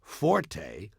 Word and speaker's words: forte: The Italian word forte, F-O-R-T-E, used in music notation, is pronounced forte, and it instructs the musician to play loud.